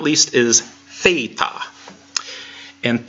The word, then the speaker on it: theta: but not least is theta and theta sounds like the th in thing did you remember the